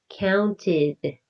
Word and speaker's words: counted: The ed sounds like id, counted.